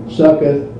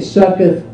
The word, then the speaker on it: Succoth: We have Peniel, Succoth, and here's Shechem.